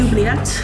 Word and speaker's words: oubliette: This is the oubliette.